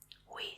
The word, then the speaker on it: oui: Oui, ça va bien.